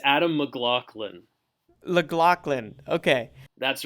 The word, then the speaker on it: McLaughlin: get that right on the podcast it's Adam mlin llin okay that's right okay thanks for joining us